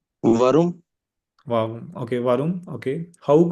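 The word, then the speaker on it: warum: वरुम।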